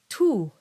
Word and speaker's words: tu: in Latin and French, in Latin it's tu, because that U is pronounced as oo, but in French it's tu. And so it's much more rounded and closer to an E sound.